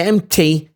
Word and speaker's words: empty: The empty, sometimes we say the P and sometimes we don't say the P. So it's up to your discretion when it comes to the pronunciation here. You can say it, and if you don't want to say it, you got the chance not to say it.